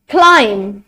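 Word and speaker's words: climb: Silent होगा. For example in the word com, ताम, plumber, not plumber, no, plumber, क्लाइम, क्लाइम.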